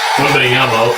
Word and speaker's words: Wembanyama: 1B Yumbo, okay, that's how you pronounce it.